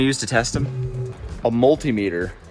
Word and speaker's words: multimeter: to test them a multimeter and that's how you say it 100 jake not multimeter i kind of like that though multimeter he does it like altimeter anyway multimeter it's multiple meters all right there you